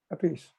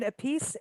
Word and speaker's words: Appice: Appice.